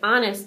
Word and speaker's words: honest: seat sit still Seth that's a good guess but honest starts with a silent H mrs.